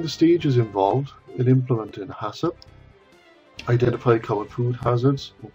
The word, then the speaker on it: HACCP: principles of hup and that's how you pronounce it is Hass although there's no a after the second C before PM recognize the